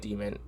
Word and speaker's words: Daemon: This is a hell of a secondary weapon choice, so they're pronouncing it Demon.